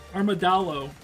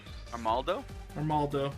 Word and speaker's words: Armaldo: He went straight out with water and then proceeded to get 4 kills with his Armadillo. Is that how you say his name? Armaldo, yeah.